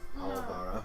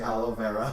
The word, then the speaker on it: Olivara: What is it actually supposed? Olivara. Olivara. What have I been saying? You say aloe vera every time.